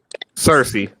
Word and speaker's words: Circe: Past meaning they introduced Circe. I think I pronounced her name right. Cersei, like Cersei, the Lannister.